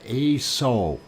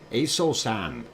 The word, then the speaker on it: Aso: Wait, I want Doc careful with that pronunciation. It sounds like you said instead of yes, I said Aso. Aso. Okay. Aso-san.